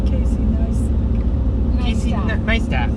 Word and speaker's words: Neistat: nice tat, like nice tat. That's how it's pronounced.